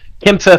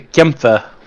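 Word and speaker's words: Kämpfer: It's supposed to be Kampfer instead of Kampfer, but we don't give a fuck.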